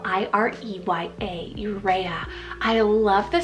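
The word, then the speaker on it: Ireya: then I have the name irea spell i-r-e-y-a urea I love the spelling and the look of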